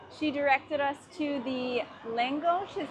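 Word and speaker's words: lángos: In the very first part of the tour, she directed us to the Langos, is how you say it.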